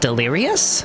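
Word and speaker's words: Delirious?: band delirious delirious and they're pronounced delirious because there's a question mark in their name oh that's clever so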